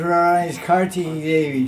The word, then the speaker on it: Kartiki: name for Radha is Kartiki Devi. She's called Kartiki Devi. It's spelled with 2 T's, by the way. Karttika. Not T-I-C-K, tick. Teak.